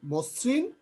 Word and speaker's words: মসৃণ: আদ্য এর পরে রিকার থাকার কারণে যে ম, এটা ওয়ের মতো উচ্চারণ হচ্ছে, মসৃণ, মসৃণ, মসৃণ, মসৃণ।